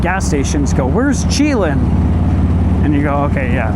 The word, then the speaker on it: Chelan: Chelan, I used to pronounce Chelan, because that's how I read it.